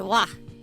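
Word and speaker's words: は: This uh this character actually is ha, but it's pronounced wa in this instance.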